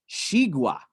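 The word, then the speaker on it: xigua: it's pronounced the one with the x is pronounced shigura and it's a chinese name for watermelon hey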